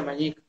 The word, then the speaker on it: Mañic: En vocablo Kom, ñandú significa, o sea, se pronuncia Mañic.